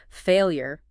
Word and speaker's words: failure: I think it's often that last syllable. People might not get that clear years. No, Lisa breaks it down. Failure. Emphasis on that here. Like the word year.